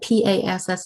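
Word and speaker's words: PaaS: software service so um that's how you pronounce that p-a-s-s is pass um let's look at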